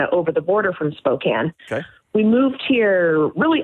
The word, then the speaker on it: Spokane: to Suzanne out in Spokane hey what's up Suzanne hi there hi there how's it going I just love that it rhymes Suzanne and Spokan it just made me